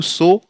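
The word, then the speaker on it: sow: हंगामा हो जाएगा ऐसे एस ओ डब्लू सो सो मीस बीज बोना और सा मींस मादा सूअर यहां से वो व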